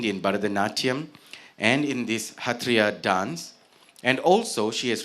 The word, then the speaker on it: Sattriya: It's a form of dance called the Hatria dance theater. Now, on my sheet of paper here, it looks like it's spelled with an S and it should have been pronounced as Satria, but I'm told that it's pronounced as Hatria dance.